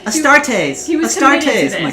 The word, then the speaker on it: Astartes: since the starties uh which i always messed up the star t is a starters so for the astartes i looked up on google how to say it and it goes astartes okay that's how you say it thanks so much